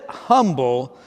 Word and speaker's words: Humble: texas of all places you spell it humble but in texas they say humble yet the h was not silent in either of his names he was known for